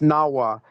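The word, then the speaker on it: Nahuatl: From Natal is Nawat is pronounced Nawwa. And they put the TL on there to to switch up the language.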